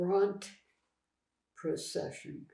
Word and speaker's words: Brandprozession: But the next day, every year in Ludinghausen, there is what they call the Bront procession. It's pronounced a little differently in German, but it's written with a Z, but it's procession.